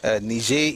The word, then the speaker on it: Niger: So Niger is Latin. Nij is the French word of French way of pronouncing the Latin word Niger.